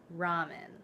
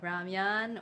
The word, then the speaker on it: ramen: But I'm gonna show you how I make my ramen, which I know it's supposed to be pronounced differently, like ramyan or lamyan. I don't know.